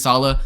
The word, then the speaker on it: Salah: I would just go up to them and be like, yo, my name is Sala, so when you see this, it's just pronounced Sala, okay?